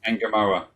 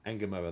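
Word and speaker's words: Ngumoha: saw a tribunal for Rio Engumo, um, however you pronounce him. Enamoa. Enamoa, that's the one.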